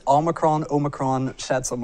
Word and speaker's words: omicron: pronounce it it says omicron omicron shed some right there right you say tomato i say tomato it's omicron it's all with emphasis on the oh it's the 15th letter